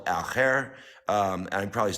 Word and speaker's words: Al Khair: And so, the organization I'm talking about, you guys, is called Al Khair. And I'm probably not saying that completely. Am I saying that right? Al Khair, yes.